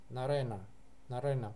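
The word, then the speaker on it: नरेण: то, чтобы было проще, на тоже произносится церебрально. Нарена, потому что ре, оно церебральное, поэтому на тоже переходит. То есть ашвена будет нормальное не, ашвена, потому что там нету никаких ша и ра перед этим. А вот тут будет нарена. На произносится примерно там же, где рэп.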